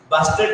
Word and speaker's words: Bastet: Bastet is maybe the name. It is pronounced like this to the Egyptian goddess.